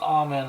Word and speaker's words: amen: there how how do amen is not a word that has anything to do with men or women it's pronounced almond i believe i think it's a german word it doesn't have to